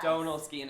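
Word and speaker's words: Donal Skehan: Why don't you say it right for us? Donald Skean. It's a lot of people struggle with it. It's an Irish name, Donald Skean.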